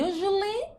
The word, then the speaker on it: usually: Então, I usually, aqui tem um som de J, tá?